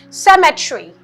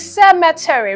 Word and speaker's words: cemetery: It is commonly mispronounced as cemetery. If you pronounce it as cemetery, you may miss this E sound here, this letter E. Alright, so it is cemetery.